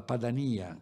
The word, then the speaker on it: Padania: a questo percorso di recupero dell'arte chiamata della Padania con l'accento sulla i che fu intrapreso da Roberto